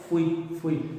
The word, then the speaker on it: fui: Sería también, como veis, un diptongo, fui.